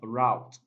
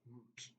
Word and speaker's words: route: now most students and learners have pronounced this particular word as route that's absolutely wrong the word is pronounced as root root root and the